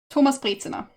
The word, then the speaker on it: Thomas Brezina: Well, I can tell you how you pronounce the name in German. Have fun trying to spell it when looking it up. Thomas Brezina. There.